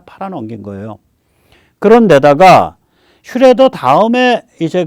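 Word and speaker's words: Schröder: 거죠이 길에 들어서게 만든 거는 슈레더죠 정책을 굳혀서 노르트 스트림 1호선을 결정을 하기 슈뢰더입니다 그리고 올해 초에 러시아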